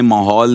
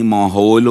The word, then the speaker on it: ماحول: پھر فہد آپ آئے, آپ نے اچھا رکھا, لیکن تلفظ کے جو معاملات ہیں اس کو دیکھ لیں, ماحول نہیں ماحول اس طرح, یہ چیزیں عمر کا تقاضا ہے چیزیں, لیکن مجموعی طور پر ایک اچھا رہا پروگرام.